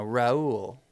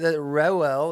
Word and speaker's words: Reuel: Kind of on a different note, let's talk about Moses' father-in-law, Reuel, or Jethro, as he's later called. The name Reuel, it's spelled, if you're listening, Reuel.